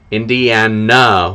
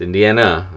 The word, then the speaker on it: Indiana: Yeah, the Indiana with an N at the end, A at the end, not Indian. It's Indiana.